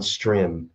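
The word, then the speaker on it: Strimm: s-t-r-i-m-m all right you can find us on stream it's it's pronounced stream but it looks like stream s-t-r-i-m-m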